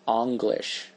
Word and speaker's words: English: angle as well right English was Once Upon a Time pronounced anglish and so as we